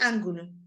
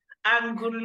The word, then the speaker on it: angu: he went to Ang is it angle just pronounce angul angu the vulture's house great